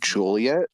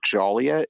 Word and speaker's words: Joliet: many times many manytimes from Joliet which if you pronounce it Joliet it's like an 85 Cent fine oh Fair fair enough